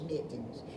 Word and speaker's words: Mittens: but his name was Mittens. Can y'all hook that up? Maybe I can spell it. Let's see. Mittenen. It rhymes with kitten, doesn't it?